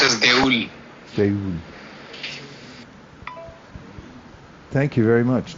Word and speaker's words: দেউল: Deul. Even though actually the word, the way it is spelled, it should be deula, but in Bengali we